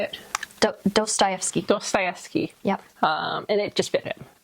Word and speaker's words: Dostoevsky: Dostoevsky.